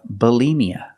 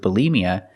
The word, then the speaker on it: bulimia: green beans B Bia put the stress on the second syllable Bia bmia is an eating disorder and when we describe what they do what people do with bulimia we say they binge